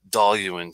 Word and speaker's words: Dailuaine: doll you mean that I have to say doll you in because it's it's a it's there's nothing worse than hearing somebody say it incorrectly if you know how